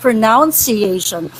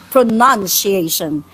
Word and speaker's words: pronunciation: names yung pronunciation is also not pronounciation It's pronoun It's p r o n u n pronunciation that's that it doesn't have a u an o so pronoun It's When You Say it as pronunciation it's it doesn't have an o hindi iyan pronounciation So